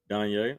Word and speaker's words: Danye: I don't Is it how you say it, Danye? Danye. Mm-hmm.